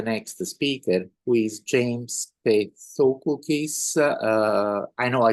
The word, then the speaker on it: Pethokoukis: It's Pethokoukis, and that pronunciation was in the correct area code or zip code, so that's totally fine. Pethokoukis.